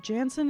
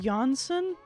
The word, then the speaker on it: Jansen: band in 1996 also oh Jansen is pronounced jansson is that true Flor